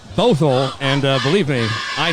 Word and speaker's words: Bothell: sports broadcasting accents as we try to pronounce baffle all night not Bothell and uh believe me